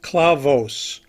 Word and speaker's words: clavos: they're called Clos clavos the term clavos is a Spanish word for nails it is pronounced clavos in its singular form